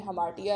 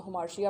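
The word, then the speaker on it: hamartia: हमार्टिया भी लफ्ज़, इसका बेसिक जो प्रोनाउंसिएशन है इंग्लिश में हमार्टिया है, लेकिन अक्सर हम उर्दू बोलने वाले लोग उसको हमार्शिया पढ़ देते हैं।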